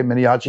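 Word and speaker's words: Miniaci: Is that pronounced right, Jay? Miniachi? That's correct, Miniachi.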